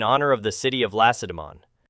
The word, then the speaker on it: Lacedaemon: They were called Lacedaemonians, in honor of the city of Lacedaemon, the emphasis of which is shifted to the last syllable, even by experienced historians.